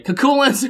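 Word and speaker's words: Cú Chulainn: called bzerk now kach said it wrong ready culin Mana MP5 and Mana heels are instead applied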